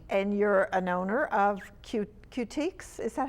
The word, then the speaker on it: Cutiques: And you're an owner of Cutiques. Is that how you pronounce it? Yes, Cutiques plus Cutie Patooties.